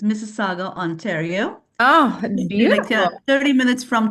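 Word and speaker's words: Mississauga: So, I'm not even going to try to pronounce what that city is. It's Missaga, Ontario.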